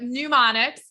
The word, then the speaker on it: mnemonics: in the book and i said it right everybody just so you all know i've been screwing up that word all along but mnemonics um which are for